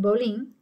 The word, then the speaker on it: Bolling: It's spelled Bolling, but it's pronounced Bolling.